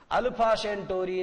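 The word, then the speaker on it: Alpha Centauri: सी ई एन टी ए यू आर आई, अल्फा सेंटोरी नाम की जगह पर डरकर भाग जाता है और पृथ्वी के ऊपर हमला करने का अपना विचार त्याग देता है।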